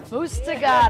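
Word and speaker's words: Muztagh Ata: Mustagata.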